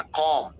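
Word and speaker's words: comb: next verb बाल बनाना कॉम piece silent है कॉम कॉम कॉम्ड कॉम कॉम कॉम next verb परेशान करना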